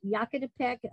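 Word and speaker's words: Yaquitepec: It looks like Yakitapec, but it's Yakitapec. He pronounced it Yakitapec, named after the Yaqui Indians, and it was basically the Yaqui Hill.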